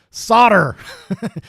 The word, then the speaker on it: solder: Say it the America way. Solder. We're going to solder this stuff.